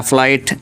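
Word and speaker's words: flight: इस चौथे रूल्स के अकॉर्डिंग क्या है देखिए, इसमें लिखा है कि आई ई यानी आई और ई या ई आई इनमें से कोई भी एक और उसके बाद जी एच आए तो जी का उच्चारण यानी प्रोनाउंस नहीं करते, यानी पढ़ते ही नहीं है। जैसे वर्ड आया फ्लाइट, एफ एल आई जी एच टी यानी फ़्लाइट, इसमें जो है ये आई आया है जी से पहले, ऐसे करके ई आई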